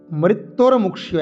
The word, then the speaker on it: মৃত্যুর্মুক্ষীয়: আমরা বলবো কি উর্বারুকমিব, উর্বারুকমিব বন্ধনান, বন্ধনান, তন্তন হলন্ত, বন্ধনান মৃত্যুর্মুক্ষীয়, মৃত্যুর্মুক্ষীয় একসাথে, মৃত্যুহ বিসর্গ, পরে মুক্ষীয় ময়হস্যু কয় মধ্যাহ্নস্য ক্ষীয় দীর্ঘী অন্তস্থ, মৃত্যুহ মুক্ষীয়।